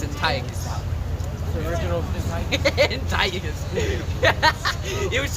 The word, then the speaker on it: Antiochus: It's Antiochus. And I think it was Antiochus. Some brothers pronounce Antiochus.